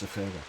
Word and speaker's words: Zephyra: And that word is Zephyra. Oh. 3 elongated syllables.